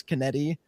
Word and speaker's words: Kennedy: So for most of them, so like I got Wayshack, Eric, Kennedy, which I I realized watching Ing Pulp. Um I was mispronouncing his name. I thought it was Kenned. It's Kennedy.